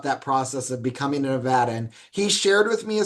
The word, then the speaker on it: Nevada: the first time I said Nevada, I was very quickly corrected. It's Nevada. I'm like, got it.